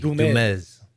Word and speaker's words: Dumes: A lot of people say Dumes, but you got to say it like Ricardo Montalban with a Z. Dumes.